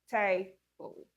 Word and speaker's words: table: Table. Next, marble, marble. Many non-native speakers will say marble, table. They stress every part of the word.